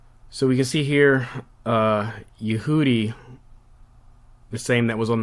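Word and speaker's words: Yahudi: So we can see here Yehudi, the same that was on the map, is just the word for Jew. Sometimes they also have the alternate spelling, and they'll spell it phonetically Y-A-H-O-O-D-E-E.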